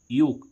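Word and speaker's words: yolk: ऐसे ही इसमें हम देखें बाय ओ एल के योक। योक मीन्स क्या होती है? जर्दी। यहां पर एल साइलेंट है। इसको योल्क नहीं पढ़ेंगे।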